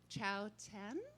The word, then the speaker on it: Chao Tian: Appalachia with Cathy Fink and Marcy Markser and Chao Tian.